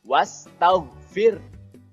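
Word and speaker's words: وَاسْتَغْفِر: ditahan dulu kemudian wastaghfir disitu ada tanda Alif setelah harokat fathah tapi tidak perlu dibaca panjang jadi huruf wa-nya langsung masuk ke huruf Sin wash kemudian tau disitu goin bukan huruf Qalqalah jadi jangan dipantulkan jangan tauge tapi tahu kemudian ver disitu roknya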